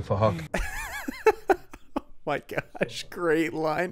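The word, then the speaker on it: Phuc: His name is Fahok, but it's spelled with a PH, so it sounds like Fahok.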